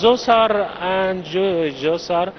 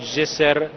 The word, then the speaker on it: Djoser: Of course, Zoser and Imhotep. Do we say Zoser or Djoser? So there are many names and pronunciation for Zoser. Zoser, Jesser, Netrichet, Okay. all of this pronunciation for the same meaning.